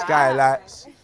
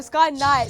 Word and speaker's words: Sky Nights: Skylights. Shout out Skylights. No, Sky Nights.